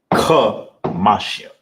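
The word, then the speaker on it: חמישים: It's not ka, salaki, it's ka. That's how you pronounce it. Kamashian. Not ka like a car, not ka like a kite. Kamashian. You want to make sure you put emphasis on that.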